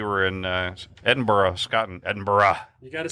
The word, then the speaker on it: Edinburgh: I um we were in uh Edinburgh Scotland Edinburgh you got to say it right Edinburgh Scotland